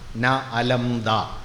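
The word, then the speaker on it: Nalanda: ഇവിടെ പിറന്നു എന്ന് പറയും നളന്ത നളന്ത എന്നല്ല കേട്ടോ ശരിക്കും അതിന്റെ ഉച്ചാരണം ന അലംദ ദാനത്തിൽ മതി വരാത്തത് കൊടുത്താൽ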